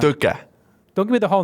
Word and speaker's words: Tõke: Now, Tõke is pronounced slightly different in Estonia. It is. It's called Tõke. Tõke. Yes. Tõke. Yeah, we have a special letter. It's like an E on the T.